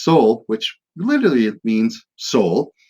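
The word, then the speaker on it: sál: into existence and there's the Norse word Saul s-a-l who pronounced Soul which literally it means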